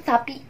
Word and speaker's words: Sappy: Seriusan sapi. Pembacaannya seriusan kayak sapinya sapi Indonesia.